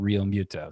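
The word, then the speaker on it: Realmuto: I got to train myself to say it differently because I heard him say it himself and he said Rio Muto. So despite some of the pronunciation guides online, going straight from the horse's mouth on that, JT Rio Muto.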